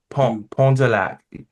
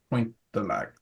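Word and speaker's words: Pointe du Lac: Don't pronounce it du Pont de Lac. Pointe de Lac.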